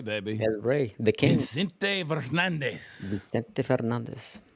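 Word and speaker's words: Vicente Fernández: Vicente Fernandez. Vicente Fernandez. Say it with an accent. Vicente Fernandez. Fernandez. Got to roll those R's.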